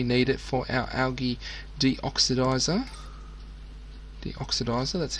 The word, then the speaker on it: deoxidizer: algae if we need it for our algae deoxidizer.